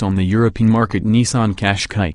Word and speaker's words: Qashqai: sport is based on the European market Nissan Qashqai Qashqai though feel free to adopt my preferred pronunciation cash cow while the regular rogue is